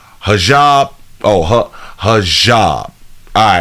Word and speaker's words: hijab: opinion both women say there is no it's pronounced hijab hijab oh hijab all right cool bam I want to be